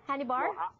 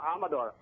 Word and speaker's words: Amador: I pronounce it correctly h bar hy bar no amador amador Hello and Welcome to